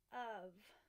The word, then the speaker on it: of: we tapped it out we think it was spelled UV that's why super tricky because this is of right but it's spelled Oh F it is made of